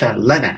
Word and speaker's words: Lena: It's Lena, actually. Lena, So I am sorry.